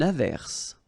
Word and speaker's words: averse: Averse. Okay. S is pronounced. The E is not pronounced.